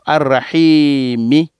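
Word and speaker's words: الرحيم: Ça dit que tout ce qui est les dernières lettres du mot, on va les prononcer. Tout ce qui est dernière lettre du mot, d'un mot, on va répéter. On va répéter, on va prononcer la lettre, dernière lettre qui vient dans un mot. On va dire Ar-Rahimi. Quand on sera professionnel un jour, on va dire Ar-Rahim. Donc, Bismillahirrahmanirrahim.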